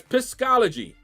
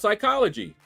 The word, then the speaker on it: psychology: what they there for psychology no that's pisy no it's pronounced psychology you don't pronounce the P then what is there